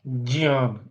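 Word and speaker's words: ज्ञ: You call Ja, and then putting the tongue at the same place, force the air through your nose and then complete with na. Jyan, Jyan.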